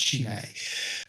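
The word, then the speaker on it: Chine: Um he is uh his name is Chin spelled C H I N E but pronounced Chime.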